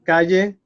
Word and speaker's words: calle: So calle is the second to last. It ends in an E, which is a vowel, an E. So you don't have to write an accent, and you know the stress has to be there because it doesn't have an accent.